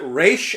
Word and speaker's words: Ra's: calls him Raish al yeah, Ghul. exactly, because that's like the right way to pronounce it.